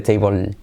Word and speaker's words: table: O sea, cuando va al final de la palabra la L, digamos que es casi como si se evaporara.